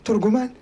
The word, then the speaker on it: ترجمان: هكذا نطقها ترجمان.